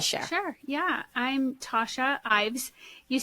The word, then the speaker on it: Ives: you want to share sure yeah I'm Tasha Ives you said e would be amazed at how many people mispronounce IES and so I was kind of